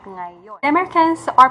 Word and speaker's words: ngayon: So for example, if you're going to read ngayon, you sound nagayon. So it should be pronounced at ngayon.